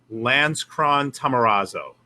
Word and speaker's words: Lanzkron-Tamarazo: And the last name, I only ask people I don't like to pronounce it. So it's Lanzkron-Tamarazo.